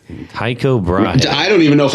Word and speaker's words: Tycho Brahe: Tycho Brahe. Tycho Brahe. I don't even know if I say it right. I know you are saying it right. Is that right? Yeah. It's like Tycho Brahe.